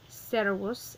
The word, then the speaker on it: servus: It's a two-syllable word, so the accent is going to go on the first of the two syllables. So, servus and servi.